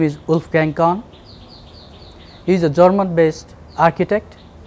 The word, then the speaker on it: Wolfgang Korn: Am I pronouncing it the right way? Yes, very good, Wolfgang Korn, not Right.